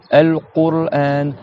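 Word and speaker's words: القرآن: Dites al-Qur'an. Qur, t'as le ra après.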